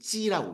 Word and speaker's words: 畸: 지 이것만 좀 사람들이 생각해서 또 기형 나와도 진조하신데 발음은 찌라고 있습니다. 일성.